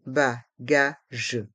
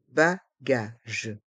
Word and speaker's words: bagages: mué le charot le ch les bagages les bagages dans le mot bagage le s est mué les bagages les bagages le panneau d'information le panneau d'information